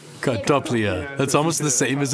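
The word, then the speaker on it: картопля: Kartoflia. Kartoflia. Kartoflia.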